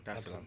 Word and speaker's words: Dar es Salaam: of the 7th, to come straight to Tanzania, Dar es Salaam. Did I pronounce that right? Yeah. Dar es Salaam. Okay, cool. Dar es Salaam.